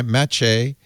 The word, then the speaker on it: Maciej: Maciej, M-A-H-T-A-C-H-A-Y, Maciej, which is a archaic Polish form of the word Matthew, and I'm guessing Czeglowski or Czeglowski.